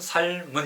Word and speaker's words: 삶은: 릴 미움과 아침입니다 제 발음이 정확하게 삶은 정확한 발음은 삶은 이라고 합니다 3 은 이렇게 한글자씩 읽어 들이면